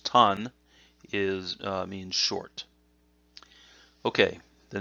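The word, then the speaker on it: 短: underneath so that that whole kanji which is pronounced tan is means short okay the next kanji again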